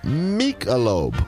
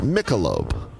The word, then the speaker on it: Michelob: where this is from Mika lobe or pronounced Michelob Michelob will he know where